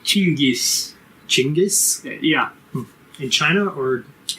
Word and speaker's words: Chinggis: You should see how they spell and pronounce Genghis. It's more like Chinggis.